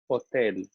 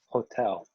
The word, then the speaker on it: hotel: the English hotel, but in Spanish, the H is silent, which you'll see when you review consonants, and the vowels sound different in Spanish. So it's O, E, hotel, hotel, and not hotel, hotel.